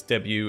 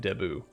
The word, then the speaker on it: debut: ambitious dip debutant debutant i heard it pronounced both ways debut and debut the last this didn't